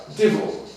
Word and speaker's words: Divil: Divil, D-I-V, it's spelled D-I-V-I-L, but it's the devil.